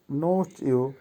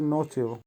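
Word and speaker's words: ночью: নোচু, নোচুর অর্থ হবে রাতে। উচ্চারণ হবে নোচিউ। আবারও বলছি নোচিউ।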